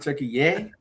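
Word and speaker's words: Türkiye: Is it turkey yay? Yeah, that's how you say it now.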